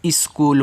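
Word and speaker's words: school: अब देखो यहां पे सी और एच आता है और डबल ओ से बड़ा ओ का मात्रा और एल से आपका ल आपका स्कूल हो गया। ठीक है? यहां पे एच जो होगा वो आपका साइलेंट रहता है।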